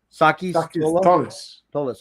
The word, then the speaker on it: Sakis Tolis: How do you pronounce his name? Sakis Tolis.